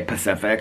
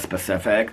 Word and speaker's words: specific: But and the other thing is when people say Pacific instead of specific, that drives me crazy too.